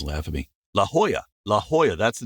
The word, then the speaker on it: La Jolla: wrong and Californians laugh at me La Jolla La Jolla that's the name of it so it's spelled l-a-j-o-l-l-a so I'm always if you ever